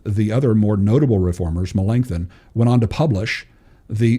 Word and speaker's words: Melanchthon: And Melanchthon, I'll say the N extra harsh there.